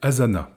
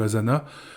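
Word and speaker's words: Asana: main facilement l'outil un autre excellent outil est Azana Azana ça s'écrit a S a n a Azana est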